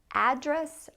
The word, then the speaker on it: address: a verb, but for the noun form, people say address or address. What's your address? Or what's your address? Doesn't matter, you can say it either way. I actually say address, and so I pronounce the noun and the verb the same way.